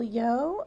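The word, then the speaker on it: Yeoh: now there is also Michelle yo I believe that's how you pronounce her name her last name y-e-o-h she was in the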